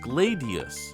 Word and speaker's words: gladius: However, it's worth noting that the Roman sword is specifically pronounced gladius.